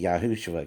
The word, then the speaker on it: Yahushua: You can say Yahushua, can't you? Yes. Right. That's how you say it, really.